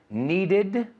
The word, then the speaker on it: needed: Needed, decided. Aquí se pronuncia la E.